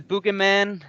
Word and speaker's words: Buggeman: Yeah, the Buggeman. Yeah, I know it's hard to pronounce. Yeah. Yeah, it's kind of it's a play on the Boogeyman because Boogie, we're boogeymen that are coming and scaring people.